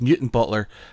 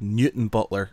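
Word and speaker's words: Newtownbutler: its new time Butler I said yeah it's mutant Butler and she's like no it's spelt new time Butler and I said yeah but it's called mutant Butler as a hobby and nards as and we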